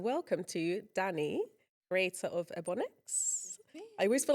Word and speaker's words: Ebonix: Welcome back to the Girl Talk podcast, and welcome to Dani, creator of Ebonix. I always feel like I'm going to pronounce it slightly wrong.